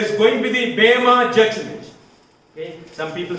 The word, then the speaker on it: Bema: In the Greek, there is only Eta. So the literal the pronunciation can be Bema judgment.